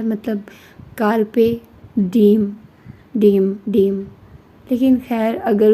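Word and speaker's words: carpe diem: लेकिन अगर उसको इंग्लिश में देखें या उसकी जैसे कि वह मुझे बताया गया कि लातीनी जबान है तो उसमें कारपे डीम डीम है वो Google से ऐसे प्रोनाउंस किया जाता है।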